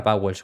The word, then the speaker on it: Vowles: Pues es el jefe del equipo, James Vowles, que siempre digo Wolf, pero creo que se pronuncia Bowles, como es un nombre de por ahí, hay veces que lo pronuncio mal, pero creo que es James Bowles, que fue el jefe